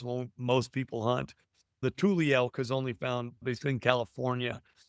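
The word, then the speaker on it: Tule: Tul Tuli.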